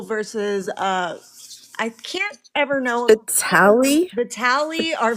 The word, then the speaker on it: Vitale: Johnson, and Engel versus, I can't ever know Vitali? Vitali or Vitale. Vitali? Yeah, Vitale. Sorry, I don't want to pronounce that incorrectly, but yeah.